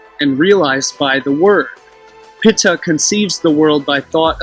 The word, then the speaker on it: Ptah: of the deity called Ptah, or Ta, if you use the silent P, Pitta, which was phonetically pronounced Pitta, and I'll portray how